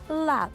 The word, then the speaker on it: ลาบ: มีเนื้อบด มะนาว พริกป่น ผักกาดหอม ฉันขอเมนูลาร์ป ฉันออกเสียงถูกหรือเปล่า "ลาร์ป" มันต้องออกเสียงว่า "ลาบ" มันสนุกมากที่ได้อธิบายตลอดจน แสดงให้เห็นถึงอาหารที่ฉันกินมาจนโต ได้แบ่งปันให้แก่ผู้ชม เพื่อเป็นการเปิดหูเปิดตาสู่สิ่งใหม่